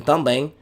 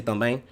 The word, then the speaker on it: também: So instead of saying a word like também, in também, even though it's spelled with the letter M, there's no M elemental sound.